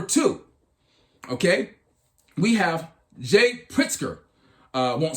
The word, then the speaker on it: Pritzker: have this guy here this pritzker sounds like a drink of spritzer but what he says